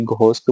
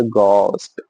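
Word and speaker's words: ghost: आप लोगों को ऐसा लगता होगा कि घस्ट बोल रहे हैं। पर एक्चुअली आप वेब सीरीज देखना। आप कभी YouTube पे जाके Google पे जाके प्रोन्सिएशन सर्च करो। इट इज़ अ गोस्ट एच उसमें साइलेंट है।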